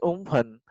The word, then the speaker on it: Amphan: The name Umphan, which is pronounced as Umphan, means sky.